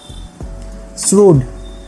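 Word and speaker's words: shrewd: শ্রুড, উচ্চারণ কিন্তু শ্রিউড নয়, শ্রুড, ঠিক আছে?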